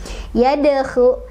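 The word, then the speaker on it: يدخلون: Dal sudah mati dari asalnya, maka cara bacanya adalah dipantulkan tapi kecil aja pantulannya. Yadkhu ya, langsung ke huruf berikutnya.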